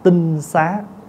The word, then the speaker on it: tinh xá: Tinh xá chứ không phải tịnh xá nha. Bây giờ mình đọc hơi trại là chữ tịnh xá đó. Chứ đúng đọc là đúng cách đọc là tinh xá, là cái nhà trong